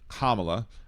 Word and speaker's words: Kamala: it wrong once, but I just want to tell you that her name is pronounced Kamla.